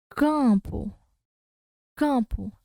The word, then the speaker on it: campo: O M está fazendo função nasal.